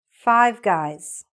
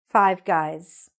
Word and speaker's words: Five Guys: You should hear the S at the end. All right? So that's what was wrong here. So all you have to do to fix the name of those particular restaurants, just make sure you're saying the S.